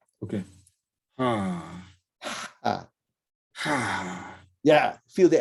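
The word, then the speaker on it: ح: Okay, now, when you're pronouncing that, it sounds like, what am I trying to say? It sounds like the sound is being, you're trying to stop the sound from sounding out. I can't describe it well enough. So it's like you're stopping yourself, whereas you should be just relaxing and releasing the pronunciation.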